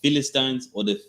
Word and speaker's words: Philistine: Meaning they were offspring of the Egyptians, and from one descendant came another, which came the Philistines, how did they pronounce it?